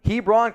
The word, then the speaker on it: Hebron: at Christian Academy in Georgia how do you pronounce that Hebron Hebron Christian Academy in Georgia from 2017 to 2019.